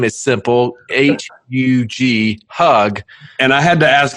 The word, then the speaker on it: Hug: His name is simple, H-U-G, Hugg.